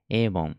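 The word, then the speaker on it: 일본: だと思います avon エイボンいいルボンって読むのはもう最悪ですね avon エイボンで破損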